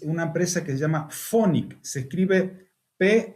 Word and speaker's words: Phonic: algunos alumnos es una empresa que se llama phonic se escribe pH h o n i c phonic